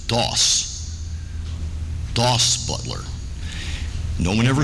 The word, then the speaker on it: Daws: So it's actually pronounced, and he preferred that you pronounce it Dawes.